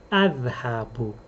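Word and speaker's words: أذهب: Adhabu. Adhabu. The first letter, the glottal stop, this letter is called Hamza.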